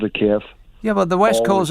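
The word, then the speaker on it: Kyiv: screen and calls it cave they're taking their lead from fox news no they're not they're taking the lead from how the ukrainians pronounce their own capital city the ukrainians have called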